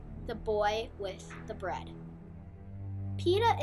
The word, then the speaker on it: Peeta: Peeta is a type of Middle Eastern bread. Though his name is spelled with 2 E's instead of an I, it is the same pronunciation.